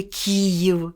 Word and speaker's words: Київ: говорить Київ багато робили говорили Київ після к і ставили Київ потім ї не вимовляли дуже багато хто не вимовляв ї а це ж така